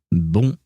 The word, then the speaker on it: bon: And it is pronounced bon. Right, yeah, no, this is where things get complicated. Because the first word, B-O-N, is supposed to be pronounced bon.